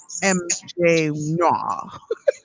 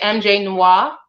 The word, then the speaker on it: MJ Noir: Okay, so how do I pronounce MJ Noir? Just the way you did. That's how you say it? That's how you say it. Now, if I'm Haitian, so I would probably say MJ Noir, but Like moi said it.